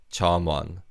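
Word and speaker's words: 점원: is a shop staff in terms of pronunciation the miyun bachchim in the first syllable carries over to the second syllable one so it's not charm one it's charm one charman let's practice saying that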